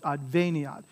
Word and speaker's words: adveniat: So every vowel is a syllable, so there are four syllables here, adveniat. And so it's because this I is short, that's why the accent is on the ve here. If the I were long, it would be adveniat, but because the I is short, it's adveniat.